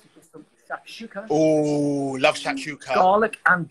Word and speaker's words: shakshuka: They've got like a shakshuka.